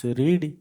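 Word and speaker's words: read: लग गया हैड पढ़ इंग्लिश हो रीड रीड पास्ट पार्टिसिपल हो रेड रीड रेड रेड spelling समान किंतु प्रोनाउंसिएशन रेड हो फ़ूला कौन ना प्रथम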